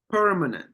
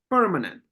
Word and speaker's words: permanent: PL Perman mm permanent permanent first first absolutely permanent number one first syllable is pronounced or or or or is stressed permanent permanent number seven um